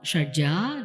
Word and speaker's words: Shadja: Shadja, Rishabha, Gandhara, Madhyama, Panchama, Dhaivata, Nishada. And we also say Shadjam, Rishabham, but preferably, I would request leave the akara open there.